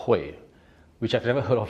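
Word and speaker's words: Huế: And I also now know how to pronounce it because I thought it was Hui or He or Ho, but the locals told us it's called Hue.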